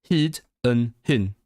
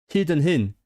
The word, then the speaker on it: hyd yn hyn: It's short. Hyd yn hyn. Oh my god. Hyd yn hyn. The Y is pronounced differently in all three words.